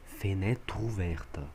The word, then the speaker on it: fenêtre ouverte: Porque o E é mudo, esse E é mudo. Esse E daqui ele é mudo. Então se fala fenêtre ouverte. Fenêtre ouverte. O TR passa para a próxima sílaba.